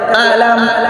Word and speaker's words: ألم: بأصحاب الفيل بأصحاب الفيل যখন উচ্চারণ করবা ধাক্কা দিয়ে আলাম আলাম আলাম কি হবে